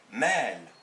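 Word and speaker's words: مال: Ça c'est le M, ça c'est le alif et c'est le L, donc c'est mal, mal. Mais si j'écris cet autre mot, le mim, le mad et le lam, là je ne prononcerai pas mal, je prononcerai le mad tout seul, donc je dirais ma'al.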